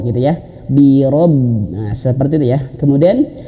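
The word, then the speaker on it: بِرَبِّ: Nah, maka bacanya biro, rob. Jangan bira, rab, birab. Ada yang baca seperti itu ya. Jangan ya. Kul a'udzu birab. Keliru sekali. Ro gitu ya. Birob.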